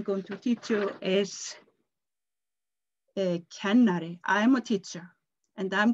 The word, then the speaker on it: kennari: The next word I'm going to teach you is kennari.